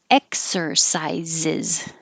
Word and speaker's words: exercises: a but strengthen strengthening exercises and exercises is exercises a lot of people forget the ziz at the end exercises fireworks so fire